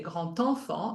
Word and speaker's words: grand enfant: But for liaison, you would say grand enfant, and then the D is pronounced like a T.